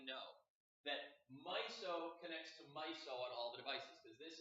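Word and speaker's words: MISO: c and s clock and that's how you pronounce my so most es la myself is a mnemonic it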